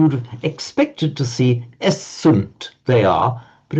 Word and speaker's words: est: with the Latin word est is and in modern French written written the same but pronounced e he she it is